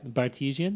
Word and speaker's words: Bartesian: It's like Of course. artesian or Cartesian, but yeah. with a B in the front. Gotcha. Bartesian.